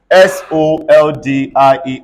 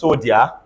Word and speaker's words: soldier: have we can possibly have D and it is pronounced as job look at this s-o-l-d-i-e-r is this sodia everybody is a soldier again e d u